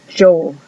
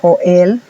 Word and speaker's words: Joel: Si se dan cuenta, la J tiene el sonido que nosotros haríamos con la Y en español o con la L. Es Joel, un poquito más, fuerte, más, no sé cómo se dice, pero es, por ejemplo, U, Y o U es you. Y Joel, Joel.